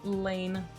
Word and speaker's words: Leyne: I I hear like laney and uh all sorts of other variations of my name, but it is pronounced lane. Like lane, like a traffic lane.